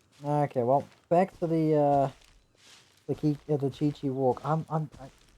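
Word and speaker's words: Qiqi: Okay, well, back to the Chi-Chi walk. Do I just call it Kiki, or do I stick with the actual way to pronounce it? It's the Chinese way, I think.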